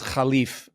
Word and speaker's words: Khleif: Arabic the name is Khalif if you pronounce it in the Arabic format uh my father was